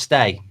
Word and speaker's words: Stage: Stage is pronounced stay.